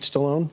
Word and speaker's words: Stallone: Guys, Jay Will, Sylvester Stallone, that's how you say it, right? Stallone?